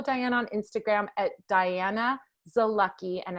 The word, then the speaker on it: Zalucky: You can follow Diana on Instagram at Diana Zalucky, and it's spelled Diana. Last name is Z-A-L. It's like Z-A and Lucky, right?